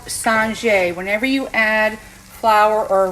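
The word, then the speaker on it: singer: This is called Singe. Whenever you add flour or roux to a sweated like produce or product or whatever, it's S-I-N-G-E-R, but pronounced Singe.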